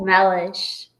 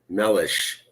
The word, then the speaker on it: Mellish: It's pronounced Mellish. Mellish.